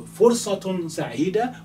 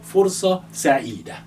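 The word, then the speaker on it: فرصة سعيدة: So, Fursatun Sa'ida or Fursa Sa'ida. This is how you write it. Fursa Sa'ida. Fursa Sa'ida. So you can say Fursatun Sa'ida to pronounce the ending if you wish, or Fursa Sa'ida.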